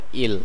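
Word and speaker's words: île: ইল, ইল যার অর্থ দ্বীপ এবং এর বাংলা কাছাকাছি উচ্চারণ হচ্ছে ইল।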